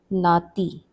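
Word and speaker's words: नाती: We have the term nati.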